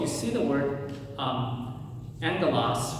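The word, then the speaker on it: ἄγγελος: It's not uh it's pronounced angalas with an n. Angalas, not agalas. So if you have two g sounds, right, two gamas together, the first g goes to an n sound.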